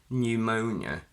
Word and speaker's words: pneumonia: pn, the p is silent. Pneumonia, pneumatic.